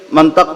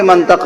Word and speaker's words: منطق: ہی ختم ہو گیا۔ ہمارے علاقے میں لوگ منطق بولتے ہیں، ہم بھی منطق بولتے ہیں۔ اب ہم کیسے سمجھائیں آپ کو کہ منطق غلط لفظ ہے؟ اصل لفظ ہے منطق۔ اب کسی عرب سے پوچھئے کہ منطق کیوں ہے، میم پہ زبر کیوں ہے اور تو کے نیچے زیر کیوں ہے، وہ ایک ایک سوال